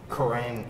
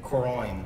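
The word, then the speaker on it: Kuroine: produced by Sketch My Name and how would you pronounce it? Koroin. Koroin. Koroin. K-U-R-O-I-N-E. It's Nordic, dude.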